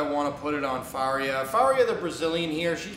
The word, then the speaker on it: Faria: And she's fighting Kalindra Farina. How do you say her last name? Faria, and right now it's pretty much a pick'em.